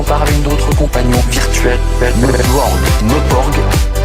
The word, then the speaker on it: Meuporg: Meporg, à se goinfrer des Meporg, souvent des jeunes qui passent leur journée derrière un Meporg.